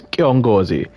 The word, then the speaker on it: Kiongozi: O inheritor of my ancient name, the burning sun, Kiongozi Mauvika. By the way, I think the correct pronunciation is Kiongozi.